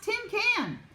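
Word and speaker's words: cinquain: at the word and it was spelled see I NQ u AI n does anyone want to try and pronounce this hmm does anyone want to sound it out may jumped right up Tim can she said it's pronounced Tim can and she grinned real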